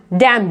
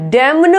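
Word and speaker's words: damn: ऐसी ये डैम, डैम, डैमन नहीं बोलेंगे, डैमन नो, गलत है, इसको राइट प्रोनाउंसिएशन है डैम, डैम।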